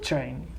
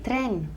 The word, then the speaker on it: train: here what's the pronunciation train good train train a lot of people say tren right almost the same in spanish but in english we have to say train remember how we say